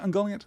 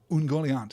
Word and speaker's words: Ungoliant: can't resist it so if you want to say ungoliant completely fine ungoliant is what I'm going to aim for though I will also